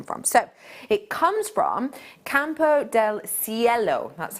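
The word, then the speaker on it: Campo del Cielo: region it's come from so it comes from campo del ciello that's how you pronounce it yellow the last word um and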